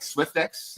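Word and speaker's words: Swyftx: Swiftex is how do you say it?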